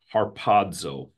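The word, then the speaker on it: ἁρπάζω: it's the word in in Greek you'd pronounce it harpazo right there whoops harpazo um most of you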